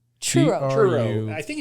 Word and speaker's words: Truro: a horrible name that's a you can't even pronounce it Truro churo churo like a churo no it's TR r